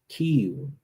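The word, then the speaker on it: כִּיּוּן: All right, so when we go to the Hebrew word, we see that it's pronounced Kiyun, right?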